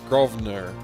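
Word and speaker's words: Grosvenor: The S is silent in Governor Gro Grovener.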